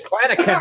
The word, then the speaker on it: Clanachan: It's Scottish, Clanachan, like a hard C.